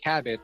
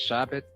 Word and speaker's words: Chabot: I said Cabot, but I guess it's supposed to be pronounced Chabot in the French way.